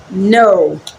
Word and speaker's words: know: n o w okay it's pronounced as no you can as well